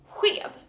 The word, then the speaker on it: sked: And spoon in Swedish is sked. And it's basically the same. It's spelled S-K this time. So S-J, S-C-H, S-K. All the same sounds. Sked, sju. So it's still the Juan pronunciation. So Juan, sked. It's like a nothing is really closed in your mouth. It's not a shh where you kind of close your tongue to the ceiling of your mouth.